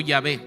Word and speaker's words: Yahvé: Se conoce esa YHWH, la palabra impronunciable, que para poderlo pronunciar algunos han agregado algunas letras adicionales, porque si no, no lo podríamos leer. Y algunos le agregan 2 letras para poder pronunciarlo como Yahvé. Y algunos le agregan 3 vocales y lo pronuncian como Jehová.